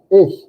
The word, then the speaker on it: ich: a little bit of raspy sound it though ish and you can kind of get it by